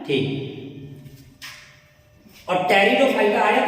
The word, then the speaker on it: Pteridophyta: है वो हमारा है टेरिडोफाइटा। टेरिडोफाइटा, टेरिडोफाइटा। जैसा कि हमने ब्रायोफाइटा को 2 शब्दों में तोड़ दिया था, वैसे इसको भी 2 शब्दों में तोड़ देते हैं। टेरिडोफाइटा में पी साइलेंट होता है और ये 2 शब्दों